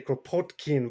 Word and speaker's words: Kropotkin: Some people try and get a little more Russian and say Kropotkin, but I mean, I can't do that. So say whatever you want. Okay, Propotkin.